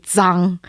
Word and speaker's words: Zhang: call it both in your last name is Zhang Jiang okay I it's supposed to be sung because that's a profit away but no one can pronounce it it so I just kind of like Americanized it so you just call